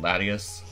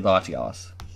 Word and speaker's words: Latios: I'm just grabbing Latios apparently some people say it latias nope adios I don't care about pronunciation but I say Latios so it's going to